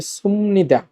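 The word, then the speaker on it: 습니다: উঁচু ভাষাটা হচ্ছে ভার্ব অথবা অ্যাডজেক্টিভের সাথে, ভার্ব অথবা অ্যাডজেক্টিভের সাথে সুমনিদা, সুমনিদা। বিউপের পর নিউন থাকলে বিউপ ম হবে, এই জন্য উচ্চারণটা হচ্ছে সুমনিদা।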